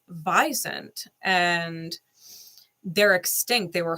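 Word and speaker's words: wisent: okay, Sage, and Visant, which is supposedly the way you pronounce it, because the American in me wants to say Wisant, but it's Visant.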